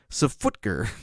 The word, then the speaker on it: SFTGR: We'd always pronounced it Safutger."